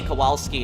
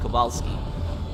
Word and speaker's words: Kowalski: wrong so like um whenever you see w in the polish language that's pronounced for v so um uh that